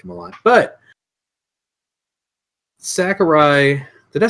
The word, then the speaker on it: Sakurai: told you already like him a lot but Sakurai did I say his name right isn't Sakurai is it Sakura I think you said it